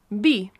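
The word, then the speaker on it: vi: So, wine is bi. Bi. Yeah. As in like a bi sound. Like a Like a bi Yeah, literally just like a bi sound. It's spelled v i, but, you know, as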